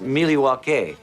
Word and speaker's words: Milwaukee: waiting to see Milwaukee actually it's pronounced milwa